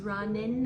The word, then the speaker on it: running: I was running out of time. A gente junta também o running com out porque o g vai sumir na hora de pronunciar.